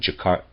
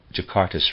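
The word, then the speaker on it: Jaxartes: around the oxis and jakarta jakartas rivers i think that's how you say that j-a-x-a-r-t-e-s rivers the other one is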